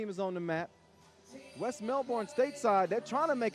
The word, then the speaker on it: Melbourne: uh west melbourne stateside i know y'all used to americans saying uh melbourne yeah but i got some australian help melbourne oh how you like